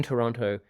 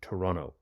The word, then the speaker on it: Toronto: Now, I've been spending quite a bit of time in Toronto, and I get told off all the time because Canadians say Toronto. So I can't really say it properly, but we say the T anyway.